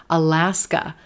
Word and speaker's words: Alaska: Let's try Alaska, Alaska. Black cat, Alaska. We've got a schwa at the beginning of the state name and at the end. Alas, alas, alas. Do you hear the contrast? Alas, Alaska, Alaska, Alaska.